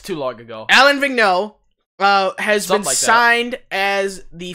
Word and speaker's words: Alain Vigneault: either so I'm pretty sure they don't ah Allan Vig no think now god I even forgot to remember how to pronounce it it's too long ago Alain Vigneault well Haslem assigned as the Philadelphia Flyers new